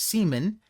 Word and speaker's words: Simon: Camila and Simon although Simon is of course pronounced more as Seaman s i m n